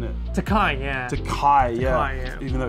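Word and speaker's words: Tokaji: And I always get this wrong because the spelling looks like Takaji, but the pronunciation is actually different, isn't it? Takai, yeah.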